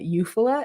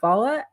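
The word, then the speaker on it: Eufaula: largest lake is Lake eala I have heard people pronounce that eupa it is definitely eala and um I always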